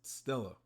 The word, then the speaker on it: Stella: star then we have Stella written as main true body but pronounced as Stella which means Celestial star in Latin it is currently unclear